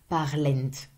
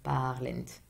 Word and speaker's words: parlent: remember to always put, if you write it, if you say it as it's written, parlent. But you will never pronounce it. Never. It's just letters that are here to mark the plural.